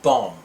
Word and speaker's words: bomb: let's practice MB sound when the letters m b are together in a word the B is silent as in thumb and bomb let's begin MB is